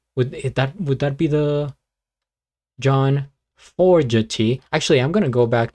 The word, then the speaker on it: Fogerty: Fogerty.